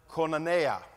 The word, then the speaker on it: koinonia: I'm going to dare to pronounce it koinonia.